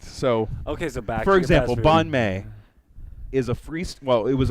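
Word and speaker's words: bánh mì: it Vietnamese yes yes I had a Vietnamese friend he pronounced it bon may so I've always pronounced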